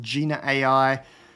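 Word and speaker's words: Jina AI: Recently, we had the embedding models by, I'm going to pronounce it Gina AI, because I don't want to pronounce it the other way, as a replacement for OpenAI's Ada embeddings model.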